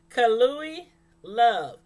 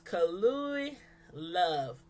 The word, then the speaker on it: Kalui Love: Kalui Love. That's how you say her name. That's how you say that name, y'all. So if y'all don't know how to say that name, that's what it is.